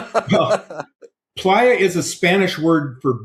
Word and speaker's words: playa: You pronounce it player, don't you? Playa as in as in the lazy player. Playa. Yeah, obviously it's the correct way. I'm just doing it the wrong way.